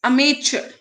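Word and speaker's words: amateur: यस, अमेचर। इसको pronounce भी करना सीखो, इट्स अमेचर।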